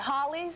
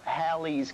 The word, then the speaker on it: Halley: Halley's, Halley's, or Halley's? Well, you got it right the last time, Janine. Just remember, it rhymes with pal and sal.